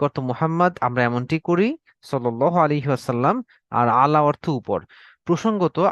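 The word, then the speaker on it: صلى الله عليه وسلم: যে একটু তাড়াহুড়ো করে অনেক সময় আমরা সাল্লাহ সাল্লাম এরকম একটা উচ্চারণ করে ফেলি। বরং আমরা যেহেতু আল্লাহ রসুলের উপর দরুদ পড়ছি, অত্যন্ত ভালোবাসা নিয়ে, সময় নিয়ে, সুন্দর করে আমরা দরুদটি পড়বো সাল্লাল্লাহু আলাইহি ওয়াসাল্লাম। ওকে, তাহলে অর্থ দাঁড়াচ্ছে হে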